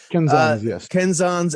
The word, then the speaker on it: kenzan: how to pronounce it is it kenzans or kenzen yes kenzans and whips and anything else